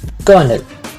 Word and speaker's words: colonel: वो वर्ड है कर्नल।